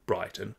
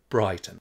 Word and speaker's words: Brighton: Brighton is quite a well-off suburb of Melbourne and commonly pronounced like that, not Brighton, but Brighton.